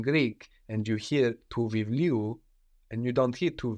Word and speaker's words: βιβλίου: But no, το βιβλίο becomes του βιβλίου. So we don't have the accent on the U, but just before.